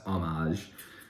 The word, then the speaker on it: homage: know i'm calling it homage i know it's homage the age is silent but i i'm one of them australians